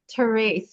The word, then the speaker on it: Therese: It's spelled all E's, but it sounds long A. So let's welcome Therese, right? Therese.